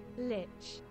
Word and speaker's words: Lich: How is this pronounced? Because I forgot again pronunciation. Lich. Okay, Lich.